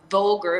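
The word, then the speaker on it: VULGVR: you can find us on instagram at um vulgar it's spelled v-u-l-g-v-r and that is a g-b you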